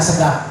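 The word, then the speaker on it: السقاف: bin Salim As-Saqafi, dibacakan As-Sagaf, nulisnya As-Saqafi, dibacakan As-Sagaf, nulisnya As-Saqafi. Ustaz terpaham Ahmad bin Muhammad bin Salim As-Saqafi. Kalau As-Sagaf dibacanya As-Sagaf. Beliau dalam kitab Tamratus Syadidah fi Masalil Mufidah bahwa ahkamul jamaah itu sab'atun.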